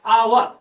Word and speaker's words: hour: यहाँ पे H silent है। तो इंग्लिश में कुछ वर्ड्स ऐसे मिलते हैं, तो यहाँ पर इसका साउंड क्या आ रहा है? आवर।